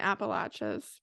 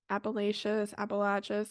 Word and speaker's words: Appalachians: It wasn't going to be the Appalachians, but Appalachians. Listen, I'm one of those people, I could say the same word in the same sentence and say it two different ways.